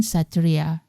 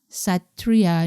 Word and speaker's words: Satria: car model is proton Satria notice that i pronounced Satria not Satria let's move on to